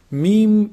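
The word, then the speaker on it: م: Mim is pronounced from the lips. When you bring both lips together, when you combine both lips together, when they close up, this is mim. And there's some nasal sound also coming from the nose.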